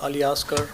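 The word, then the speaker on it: Aliasgar: Uh my name is uh Aliaskar. Uh it's spelled A L I A S G A R.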